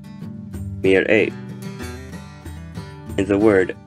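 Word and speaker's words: מרעה: Mir'eh. Mir'eh.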